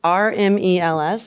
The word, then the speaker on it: RMEL: more resilient Grid in 2021 he received oh r-m-e-l-s or is it is that how you say